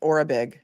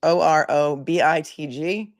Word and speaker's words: Orobitg: I guess that's pronounced Orobitg. That's how they pronounce it on the news. Orobitg.